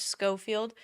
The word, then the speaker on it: Schofield: uh Brooke scoffield and I think I pronounced her name wrong a while ago her name is scoffield Brooke scoffield dated this